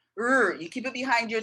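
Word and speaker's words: 日: In Chinese, this word is pronounced r, r. I don't know how to explain that other than to say r. You put your tongue as if you're gonna pronounce the word, the letter R, but you keep your tongue suspended, be you know, in the air in your mouth behind your teeth, and you don't move it.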